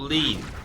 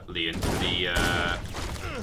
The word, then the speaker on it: Leon: It's not lean, robot lady. On the landing above us. It's a 2-syllable word.